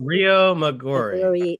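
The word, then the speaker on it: Riomaggiore: Rio Maggiore. Yeah. Also, Rio Maggiore.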